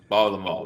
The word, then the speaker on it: Baltimore: Baltimore. We gotta Baltimore. You gotta run it all together.